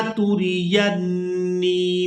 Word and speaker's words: تُرِيَنِّي: بھی تھوڑا ڈیفیکل ہے، اس کے ہجے کریں گے، تاپش تو، را زیر ری، توری، یا نون زبر ین، نون یا زیر نی، توری ینی، قُل رَّبِّ إِمَّا تُرِيَنِّي مَا يُوعَدُونَ رَبِّ فَلَا